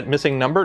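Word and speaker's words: MissingNo: It's Masingo. Yeah, missing number? No, it's Masingo. That's how I always pronounced it.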